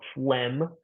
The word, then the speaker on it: phlegm: Here's an example of phlegm. That G is ignored when we're pronouncing that. Another example with the P here is blepharotosis.